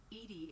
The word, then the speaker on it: EDI: is a jar why are you named Ed Ed is the phonetic pronunciation of EDI that is an acronym for